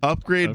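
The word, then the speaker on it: Upgrayedd: it's oh upgrade upgrade upgrade but it's spelled upu p g r a y e d d upgrade so yeah that's quite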